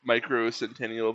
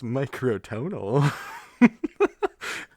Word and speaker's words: Microtonal: This reminds me of like Micro Centennial Banana Viking Gizzard Lizard Wizard. Microcentennial? Yeah, banana. Brother, it's microtonal.